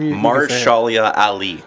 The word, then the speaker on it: Mahershala Ali: Mahershala Ali.